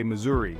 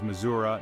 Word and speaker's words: Missouri: and vibrant communities now some folks might say Missouri like they're trying to rhyme it with free this pronunciation is common among those who are not from the area but if you want to blend in with the locals you've got to embrace the uh sound it's a subtle yet significant difference that shows you know your way around that's right the correct way to say it is Missoura nice and round just